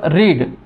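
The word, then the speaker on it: read: कॅन बी वाचण्यासाठी शब्द रीड third form रेड spelling तेच उच्चार वेगळा बुक्स कॅन बी रेड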